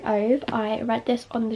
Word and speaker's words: Ove: Also, just while we're starting, I know everyone pronounces differently. I say Ove, some people say Uva, Ova, Ove. I just say A Man Called Ove, that's how I've always read it in my head.